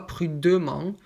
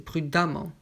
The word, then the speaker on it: prudemment: nt pour les adverbes on le prononce donc ici on enlève le nt et on ajoute un membre tout simplement donc prudent prudemment donc s'est prudemment ce n'est pas prude mans s'est prudemment et si pareil précédent précédemment